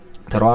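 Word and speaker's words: ر: র উচ্চারণ কিভাবে হবে? জিবার আগার উল্টা পিঠটাকে উপরের তালুর সঙ্গে লাগাইয়া উচ্চারণ করতে হবে।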